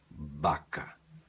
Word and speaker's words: vaca: a ub a a e você não vai dizer vaca em espanhol se escreve igual Mas você vai fazer soar baca baca sempre tá bom os espanhóis